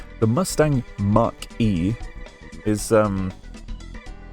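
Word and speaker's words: Mach-E: That was that Mustang Mark E or Mustang Marquee? Mustang M A C Mach E. You know, like speed of sound E times speed of sound.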